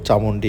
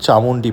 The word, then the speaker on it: চামুন্ডী: আজকের গল্পটা তোমাদের সঙ্গে শেয়ার করব সেটা শুধুমাত্র চামুন্ডি হিলকে নিয়ে। তোমরা হয়তো লক্ষ্য করে থাকবে শুরুতেই আমার উচ্চারণে যে পাহাড়ের নাম আমি ভুল নিয়েছিলাম সেটার নাম কিন্তু চামুন্ডি পাহাড়। চামুন্ডা পাহাড় নয়।